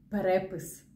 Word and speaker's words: перепис: Усім привіт Так це знову наголос Отже 4 слова перекис перепис перепад але переляк якщо у вас цікавить чому